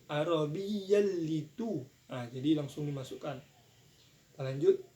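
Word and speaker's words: عربيا: Arabiyyal itu. Jadi cara bacanya idgham bila guna. Di kita sini adalah cara bacanya sebab bertemu huruf fathatain dengan huruf la. Cara bacanya langsung dimasukkan. Arabi tidak dengung. Arabiyalitu.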